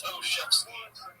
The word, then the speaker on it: Olshavsky: It's Oshevsky, but it's spelled Olshavsky.